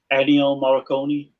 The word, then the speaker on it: Ennio Morricone: And also Ennio Morricone. Is that how you say it? Ennio Morricone.